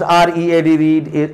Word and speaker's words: reed: This word is also pronounced R-E-A-D read, and this word R-E-E-D is pronounced as read.